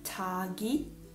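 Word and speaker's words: 자기: Poi l'ultima, ch, che suona come ch all'inizio di parola e j all'interno. Per esempio, chagi, vuol dire se stessi, chagi.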